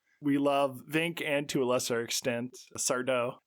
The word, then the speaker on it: Sardo: We love and to a lesser extent Sardo. No, mister accent on the dough.